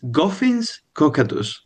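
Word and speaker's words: Goffin's cockatoo: I say goen or is that pronounced correctly? Yes, it's goffins cockadus.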